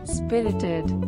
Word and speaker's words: spirited: Spirited. The pronunciation is very easy. Three syllables, and the emphasis on first syllable.